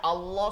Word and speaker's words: আল্লাহ: আছে আল্লাহু আকবার আস্তাগফিরুল্লাহ আবার আল্লাহ শব্দের আল্লাহ শব্দের তাসদিদের ডানে জবর পেশ থাকলে আল্লাহ শব্দকে মোটা করে পড়তে হয় যেমন আল্লাহু আকবার আস্তাগফিরুল্লাহ